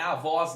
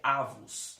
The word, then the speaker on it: avos: Cuidado, não confundir, não é avós não, tá? Pelo contrário, é avos mesmo, tá? Com a sílaba forte aqui no A, tá bom?